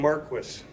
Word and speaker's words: Marquis: of the 125th anniversary we're saying Maris who doesn't know that it's called The Marquis building I I didn't know Marquis I think we've mispronounced that for many years but from this day forward we will pronounce it correctly uh our appreciation again